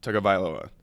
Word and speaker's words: Tagovailoa: But it's Tagovailoa. Tagovailoa. There's no N.